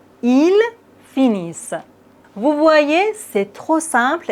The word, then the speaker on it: finissent: Comme toujours, on ne prononce jamais ENT. Ils finissent.